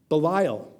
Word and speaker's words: Belial: And one thing you should know is that in Hebrew, the word for worthless is pronounced Belial.